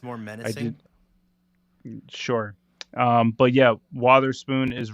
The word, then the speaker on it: Witherspoon: But aren't they pronouncing it Wotherspoon? Wotherspoon. Wotherspoon. Wotherspoon. Wotherspoon. I thought it was Wartherspoon, like war. No, I think it's Wotherspoon.